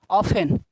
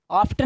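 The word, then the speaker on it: often: आए तो T silent, जैसे ऑफन, ऑफ्टन नहीं, ऑफ्टन नहीं क्या ऑफन, लिसन नहीं, लिस्टन नहीं,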